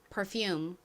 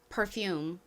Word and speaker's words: perfume: 먼저 가장 앞에 PER은 P가 피읍 소리 나고 ER이 so리 나서 pear이라고 발음이 됩니다. 그리고 다음 fume에서 f는 한국식으로는 피읍으로 표기하고 실제 발음은 좀 세게 거의 쌍비읍에 가깝게 th 이렇게 소리가 납니다. 그리고 뒤에 이렇게 이가 있을 때는 무슨 소리가 난다고요? 소리가 납니다. 발음 연습 같이 해볼까요? perfume, perfume. 좋습니다. 한국식으로는 아래에 리을 받침을 빼고 perfume이라고 표기하고 발음합니다.